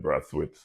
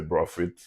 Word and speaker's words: Brathwaite: My name in They got a lot of different pro- pronunciation in Carriacou they say Braffit. In England they say Braithwaite. But on my passport it's Braithwaite b r a i t h w a i t without the i.